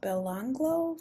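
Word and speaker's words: Belanglo: missing from the bill I believe it's pronounced belonglo Forest if if not then you know we're just going to chalk it up to my accent shall we a number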